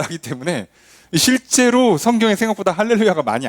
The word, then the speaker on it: 할렐루야: 굳이 여러분 정확하게 발음하려면 할렐루 하고 잠깐 늘어뜨린 다음에 야를 붙이는 게 맞아요. 가끔 이제 어떤 분들은 할렐루야 이렇게 하는데 그거는 발음상 잘 못하신 겁니다. 정확히는 할렐루 하고 야를 붙는 게 맞고, 아니면 그냥 할렐루야를 한 번에 붙이는 게 맞습니다.